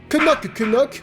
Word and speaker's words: Knock Knock: Knock Knock (prononcé avec les premiers K) est un peu un